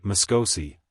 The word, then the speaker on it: Moscosi: But when coupled with the word Moscosi, accent on the second syllable or long O, its effect was more than unpleasant, it was really disagreeable.